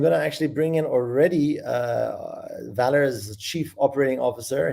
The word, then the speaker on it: VALR: in different ways but the way to pronounce it is valor like courage or value or things of that nature or the derivative is value i should say but it's valor and so today i